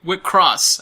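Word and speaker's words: WIXOSS: It's not Wick sauce, remember? Wick Cross. I just remembered that. I remember we had the problem a long time ago trying to figure out how to pronounce that. Right. And then we heard it. Wick Cross.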